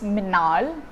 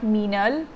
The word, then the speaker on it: Meenaal: Yeah, so my name, by the way guys, is Meenaal. It's not Meenal, or it's not I don't know, whatever.